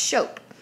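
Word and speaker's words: scop: Anglo-Saxons each tribe also had a Shope it's pronounced Shope an engl-x and oral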